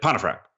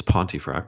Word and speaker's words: Pontefract: and he's like, and he got my name pronunciation wrong, right? He's like, Pontefract. And I was like, okay, it's Pontefract, but whatever, in my head, right?